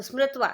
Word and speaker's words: स्मृत्वा: स्मरण करना, स्मृकत्वा तो स्मृत्वा, देखो क साइलेंट है इसमें, स्मृत्वा स्मरण करके, कथ